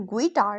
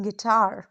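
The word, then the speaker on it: guitar: लेकिन ग्विटार नहीं बोला जाता। इट्स गिटार।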